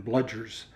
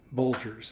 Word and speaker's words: Bludgers: It should have been Bludgers, but he pronounced it Bulgers, and so they thought that was kind of a funny thing.